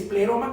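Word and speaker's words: πλήρωμα: eso es importante escudriñar en griego es pleroma plenitud quiere decir significa pleroma digamos se pronuncia es pleroma que significa o que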